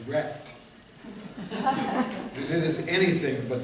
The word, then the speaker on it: RECD: The hard truth is that what Noam Chomsky has called really existing capitalist democracy, or RECD for short, pronounced as wrecked, that it is anything but democratic.